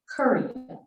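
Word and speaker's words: Keryna: well Korea's name is from the Arabic it's pronounced Curry okay it's k-e-r-y-n-a live Kenyan but with an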